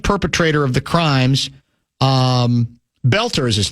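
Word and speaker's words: Boelter: of the crimes um Belter is his name, right? That's how you pronounce it. Yep. The O is silent Vance.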